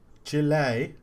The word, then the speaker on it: Chile: yes can I also pick up how you pronounce second country Chile it's actually Chile yeah yeah yeah I've always